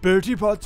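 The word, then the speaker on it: Bertie Bott's: Bertie Potts every flavored beans.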